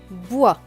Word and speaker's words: bois: b i oi bois le s à la fin est écrit on veut donc il ne se prononcent pas b ewa bois plus loin i l